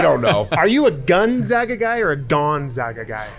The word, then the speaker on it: Gonzaga: Gonzaga. As long as you nail the A, you're good.